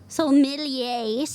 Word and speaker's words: sommeliers: Sommeliers.